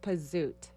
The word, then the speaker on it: Pasut: It's like a Z, but it's pronounced Pasut.